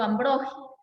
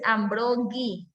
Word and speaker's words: Ambrogi: a hablar de Arturo Ambrogi. Ojo con la pronunciación, no es Ambrogi, porque no tiene U, es Ambrogi, como si fuera el sonido de J.